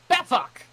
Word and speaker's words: Befok: Could you give us the pronunciation of your first and last name, please? Your first name is Befok.